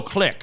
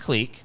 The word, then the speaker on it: clique: accommodate than it is it's pronounced clique that's the proper pronunciation and you know he